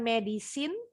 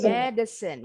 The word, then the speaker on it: medicine: Bacanya bukan medicine, tapi medicine.